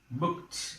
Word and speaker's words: booked: It is pronounced as t. How do you pronounce it? It's not booked. It is booked.